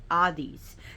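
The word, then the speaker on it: ἍΙδης: in Greek is Hadi Adis the H is not pronounced and the D is like a th side a th sound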